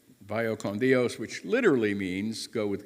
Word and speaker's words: vaya con Dios: But if you try it to a Spanish speaker, they will often correct you, thinking that you don't know how to say it. It's kind of like saying, good you're by. Because I tried it when I was in Mexico. Vaya con su Dios. Like, no, vaya con Dios.